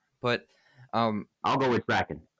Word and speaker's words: Kraken: want to be replaced by the Kraken that's how it's pronounced how how else would